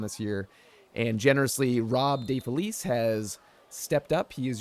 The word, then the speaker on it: DeFelice: Well, the typical pronunciation is DeFelice, but all right. My Italian ancestors will tell you it is De Felice. Oh, okay. Which means of happiness.